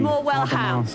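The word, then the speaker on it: Morwellham: The accent is on the ham. So Graham should be able to help you there. No, I'm only joking. It's more well ham.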